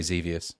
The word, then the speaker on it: Xevious: How do you pronounce it? I'd say Xevious.